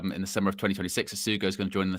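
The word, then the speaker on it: Essugo: How do you say it? Asugo. Asugo, is that you say? Asugo, yeah. Asugo.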